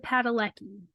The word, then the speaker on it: Padalecki: Jared Padalecki. Mhm. I'm sure I'm saying his last name wrong, but that's how I read it. I'm sure it's right.